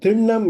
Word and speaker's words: திண்ணம்: அந்த நிலைக்கு சென்றுவிட்டோம் ஆனால் திண்ணம் என்பது நிச்சயம் என்று இப்பொழுது நாம் வழக்கில் சொல்லிக் கொண்டிருக்கிறோமா அதுக்கு இணையான அழகிய தூய தமிழ்ச் சொல் ண் திண்ணம் ண் என்று உச்சரிக்க வேண்டும் என்று அனைவரையும் தாழ்மையுடன் கேட்டுக்கொள்கிறேன் நன்றி